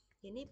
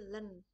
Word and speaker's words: ln: Ini bacanya adalah ln x ya, bukan in tapi len.